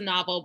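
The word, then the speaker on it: NOVL: Yes, it's pronounced the novel, but it's N-O-V-L, right?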